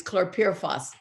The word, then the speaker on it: chlorpyrifos: It's chlorpyrifos. That's it. It took me 2 years to learn how to pronounce it.